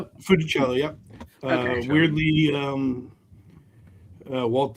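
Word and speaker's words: Funicello: Fichello.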